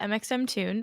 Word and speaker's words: mxmtoon: my name is Maya my artist's name is mxm tuned which might be the first time a lot of people even if you do know of me are learning how to say it for the first time so that's how you say it um my pronouns are